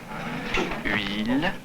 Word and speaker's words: huile: Mettez bien les organes intérieurs, la langue, tout ça, pour prononcer comme pour prononcer le U. Et là, vous dites rapidement après la voyelle I. Alors ça fait huile, huile, huile.